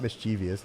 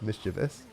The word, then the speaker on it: mischievous: No, that is not how mischievous is said. It's not mischievous. It's mischievous.